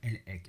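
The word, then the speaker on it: Elhaik: Et vous avez un généticien américain qui est d'origine juive qui s'appelle Eran Elhek. Alors Eran s'écrit E-R-A-N, Elhek, E-L-H-A-I-K.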